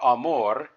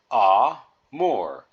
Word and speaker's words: amore: would help you so the first syllable in ah or Amore you would see an A and you would say ah like you're opening your mouth for the dentist and then more the end of Amore or the second syllable of Amore you would just say more just like you would in English so one clue or